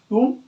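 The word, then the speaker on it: tomb: आ जाए, ठीक है, एम के साथ आता है तो बी का होता है साइलेंट हो जाता है। जैसे में कॉम, टूम, वूम, थम और लिम।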